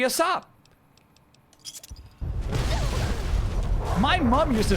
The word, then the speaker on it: ASAP: Do you pronounce it ASAP as if the A is the letter A? That doesn't make any sense. Why would you? Why would you pronounce it like that? That's crazy. It should be a sop.